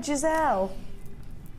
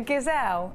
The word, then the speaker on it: gazelle: Yeah, that's what it reminds me of, a Giselle. Have you got a picture of a Giselle you can show me? A gazelle, a gazelle. Is that how you say it? Not a Giselle.